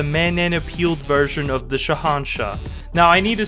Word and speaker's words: Shahanshah: No, you're adding in extra letters that don't even exist. It's just Shahanshah.